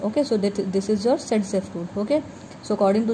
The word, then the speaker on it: Zaitsev: Okay, so this part of the pattern first observed by the Russian scientist Alexander Zaitsev, pronounced as Zaitsev.